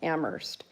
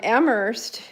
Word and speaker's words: Amherst: like 12 miles from Amherst. Um Amherst in Massachusetts, it's famous for a few things. One thing is it's Emily Dickinson's home. Um the other thing is is that um the H is silent, so.